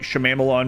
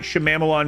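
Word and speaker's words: Shyamalan: downfall trying to think of the last innight Shalon movie it's not how it's pronounced the last inight shamalan movie I watched actually I can't remember gr's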